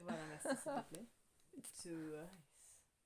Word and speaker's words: Twice: Twice. C'est la seule façon correcte de prononcer Twice.